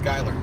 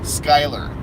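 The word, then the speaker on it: Schuyler: if you can pass Skyler SCH uy l ER Skyler but it's F any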